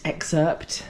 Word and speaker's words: excerpt: The the the viewers loved your little mint mint excerpt. Ah, you don't pronounce the P in excerpt.